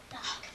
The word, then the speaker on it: knock: The K is silent.